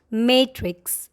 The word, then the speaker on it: matrix: This is the only way to pronounce this word. Module. Module. There is no module at all. This word. Matrix? No. The right way to say this word is matrix.